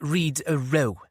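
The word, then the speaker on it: Rhydyrhaw: It's Rideroo, Mum, Katrin explained. Pronounced Read-a-row, as in crew.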